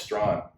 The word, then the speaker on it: Strachan: website, and I think on the website it was pronounced Strachan. Pronounced Strachan, and Strawn was an English pronunciation. Yes. And so I didn't know this guy from Adam, and I pinged him and went, "No, it's Strawn."